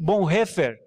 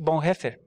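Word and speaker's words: Bonhoeffer: teólogo chamado Dia Triste bom refer essa a pronúncia mesmo tom que tem que bom refer tá a é porque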